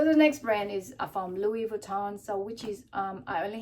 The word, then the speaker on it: Louis Vuitton: I've been corrected a few times, and I'm sorry if I pronounce and if it irks some people that I've been saying with an S. I didn't realize that it is a silent S, and you know, it's